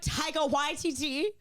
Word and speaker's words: Waititi: And I want to pronounce it right. Yes, that's right. Speaking of him, Taika Waititi, he pisses me off.